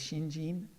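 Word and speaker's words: 信心: um and uh the last one is uh pronounced gene it's hard to say shinshin so it's shinjin um that second character is actually one of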